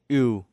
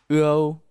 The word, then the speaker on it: ưu: This is similar as in ưu, but with these clusters, you have to widen your mouth when pronounce it, like this. ưu, ưu.